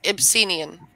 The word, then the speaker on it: Ibsenian: Ibsenian, am I pronouncing it correctly? Yes, Ibsenian.